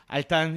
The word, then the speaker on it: Altan: Altan, is that right? That's the way you pronounce it.